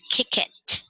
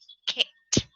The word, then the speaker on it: kicked: You don't say kick it. No, it's kicked. Now, the way you pronounce it is just you read the base word and then you just add T at the end. Kicked, kicked, kicked.